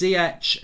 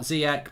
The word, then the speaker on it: Ziyech: Mark, please, it's Ziyech, not Ziyech, pronounced with a SH sound.